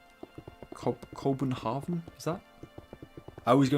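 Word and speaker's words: København: In uh Danish, Copenhagen is pronounced co Copenhav. Cobenhavven is that I always go into like a German accent when I try and pronounce Danish.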